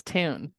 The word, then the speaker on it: Toone: Is it Tone or Toone? It's Toone. Toone. Okay, that makes sense given the O, but you never know these days.